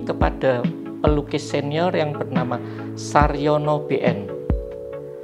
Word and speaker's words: Sarjono: Nah, kursus seni lukis ini kepada pelukis senior yang bernama Saryono BN. Saryono BN, ejaannya Sarjono, JO, ya, orang lama itu.